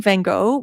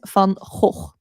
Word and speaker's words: Van Gogh: name it is Vincent Van ho so that is how you pronounce it in Dutch so just a little